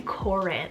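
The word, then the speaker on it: Koren: one's a unisex option and that's the name corinth spelled k-o-r-e-n this one here means gleaming or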